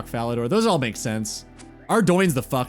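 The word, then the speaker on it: Ardougne: I say Ardo. When I was a kid, I called it Ardugn.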